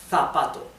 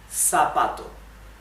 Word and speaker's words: zapato: In Spain, they would pronounce it zapato, zapato. In Latin America, it would be zapato, zapato, okay?